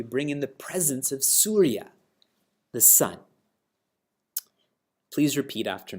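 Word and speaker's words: सूर्य: Before we chant together, in my book, Surya doesn't have a long A, but there should be a long A there. It's Surya Lokam.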